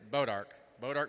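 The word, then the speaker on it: Bois D'Arc: And I figured it out, and I asked Greg how to pronounce it. It's Bodiark, Missouri. We've just been informed, please,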